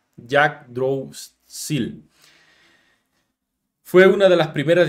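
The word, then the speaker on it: Yggdrasil: también a esta distribución que se pronuncia Jack drops fue una de las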